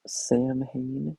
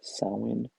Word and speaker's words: Samhain: Although you've probably heard this name before, it is not pronounced Samhain, even though that's how it's spelled. It is indeed pronounced Samhain.